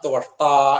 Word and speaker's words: ത്വഷ്ടാ: സ്ഥലം മാത്രമായിട്ട് നിലനിൽക്കും അതാണ് ത്വഷ്ടാ എന്നുള്ള വാക്കിന്റെ അർത്ഥം ത്വ ആ ഉച്ചാരണമാണ് ശ്രദ്ധിക്കേണ്ടത് ത്വഷ്ടാ വിശ്വകർമ്മ വിശ്വ എന്നുള്ളതിന് ശ്രദ്ധിക്കണം വിശ്വ